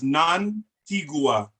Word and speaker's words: Nantigua: In Nuwaubik, there are no silent letters. Every letter must be pronounced. So that's Nantigua.